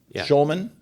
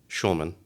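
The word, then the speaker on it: Shulman: Shman. Schulman. S H U L M A N. Yeah. Okay. No C.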